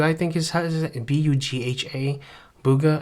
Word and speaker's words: Bugha: by this guy named Bugha, I think is B-U-G-H-A. Bugha, I think is how you say his name.